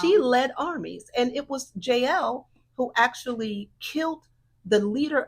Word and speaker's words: Jael: some pronounce it Jael, but JL, Jael.